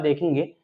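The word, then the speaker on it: though: में यजीएच या यूजी एसटी में यू हमेशा साइलेंट होता है यहां पर हम इसका एग्जांपल देखेंगे यहां पर लिखा लिखा हुआ है कॉट कॉट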